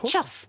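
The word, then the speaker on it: chough: So we think the first one is a pluff. Is that how we're pronouncing it? It's a chuff.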